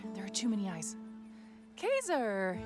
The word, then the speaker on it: Kaser: Kazer, it's going to be hard for me to not pronounce it Kaiser. I know there's no I in that, but for some